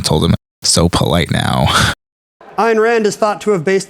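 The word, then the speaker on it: Ayn Rand: him so polite now iron Rand is thought to have based the architect in this novel on Frank lyd Wright Ken still pronounces it IR ran and Amy answered what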